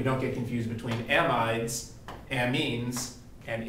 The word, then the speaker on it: amine: so we want to we have to exaggerate our pronunciations here to make sure we got this right this is an amine and this is an imine obviously these are not